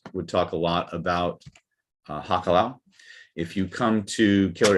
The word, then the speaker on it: hakalau: it well first of all you have to spell it right it's h-a-k a l-a-u hakalau and you can find it mentioned largely